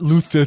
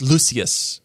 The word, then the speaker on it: Lucius: fine lucious fine whatever not luther it's lucius okay uh it's one